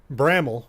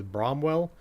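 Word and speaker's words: Bramwell: uh Point Pleasant Charleston Beckley Welch and uh Bramble which by the way is what I've learned is the proper pronunciation of what I thought was bromwell I got a I got some messages from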